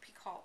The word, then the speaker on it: Picoult: book ever by Jodi Picoult. Well, her name is Picoult, but it's spelled Picoult, which I always think is Picoult, but it's not, it's Picoult.